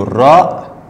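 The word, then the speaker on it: راء: La lettre suivante, c'est le ra. Ra. Ra. Comme le espagnol.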